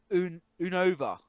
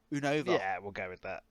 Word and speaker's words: Unova: Next one is the region I struggle pronouncing. Uh it's Unova. Unova.